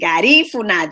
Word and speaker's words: Garifuna: for pronouncing it properly garifuna the accent is on the second syllable so our please go